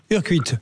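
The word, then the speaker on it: Urcuit: Urquit, on prononce comme ça ?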